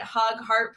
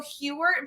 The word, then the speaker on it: Hughart: makes it gold right hug heart put them together is that not how you pronounce it well I so like typically I go Hewer but I will tell you